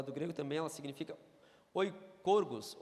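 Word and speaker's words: οἰκουργός: grego também ela significa oi corgos oi corgos o i k o u r g o s beleza barbada de pronunciar que que significa isso além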